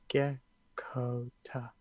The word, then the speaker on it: Gekkota: Geckota.